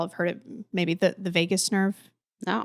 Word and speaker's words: vagus: And more specifically, there's this thing, and I'm sure y'all have heard it, maybe the vagus nerve.